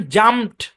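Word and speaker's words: jumped: তারপর দেখেন জাম্পড, ডিটা টি এর সাউন্ড দেবে।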